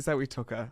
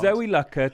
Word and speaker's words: Lucker: actual actress name wrong is it Zoe Tucker It's Zoe Lucker Tanya Turner listen I